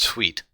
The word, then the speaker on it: suit: is The Sovereign and his suit used to be pronounced sweet which was the people that